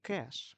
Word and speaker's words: cache: object file comp a cash pronounced like cash is storage location where